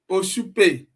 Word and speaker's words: Oshupe: Oshupe. Okay, thank you. Not Oshupa, I understand now.